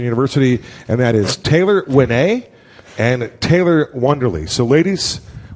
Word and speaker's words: Uene: It's Tayler Uene, and we'll just for fun, you spell Uene, U-E-N-E. Mm-hmm. That's a fact. It's pronounced Uene.